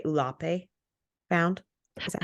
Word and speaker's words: Ulape: And then when they demand a share of the bass that is, I would say, Ulape found.